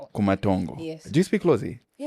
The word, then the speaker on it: Kumatongo: How do I pronounce that? Shishemo. Shishemo. Kumantongo. Kumantongo.